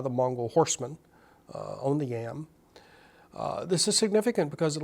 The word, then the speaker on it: yam: This elaborate horse trail system is called the yam. It's just a transliteration of the Mongol word. It's spelled Y-A-M, just like our potato.